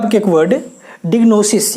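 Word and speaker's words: diagnosis: डायग्नोसिस या फिर इसे अगर कहें तो डिग्नोसिस पढ़े तो ज़्यादा बेहतर है। ऐसे डायग्नोसिस भी सही है लेकिन डिग्नोसिस बेहतर प्रोनाउंसिएशन है।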